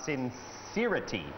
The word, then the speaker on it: sincerity: แบบ เ จริง ๆ sincerity sincerity จะ เน้น พยางค ที่ 2 เป็น sincerity หรือ ถ้า เป็น ชาว อเมริกัน